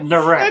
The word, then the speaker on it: Naresh: I talked to him today, and he pronounced his name for me. And I'm pretty good about. So I gave up. I couldn't do it. So he said Naresh.